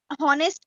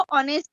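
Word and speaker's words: honest: जैसे कि हॉनेस्ट को ऑनेस्ट बोल रहे हैं, ये साइलेंट वर्ड है, बट इसका यूज क्या है?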